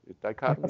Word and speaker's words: dichotomy: Dichotomy, is that the word? Yeah, that's correct. It's four syllables, so it threw me.